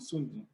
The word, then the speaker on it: Sun Tzu: I pronounce it Sun Tzu.